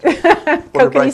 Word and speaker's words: Kokanee: Kokanee salmon.